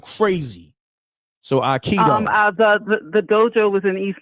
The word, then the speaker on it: Aikido: That's how you say it, Aikido.